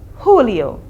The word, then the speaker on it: julio: silent in spanish and the j is pronounced as an h so for june and july it would be honeo for june and july is julio so we're going to